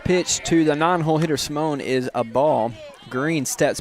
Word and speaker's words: Simone: Simone, excuse me, not Simon.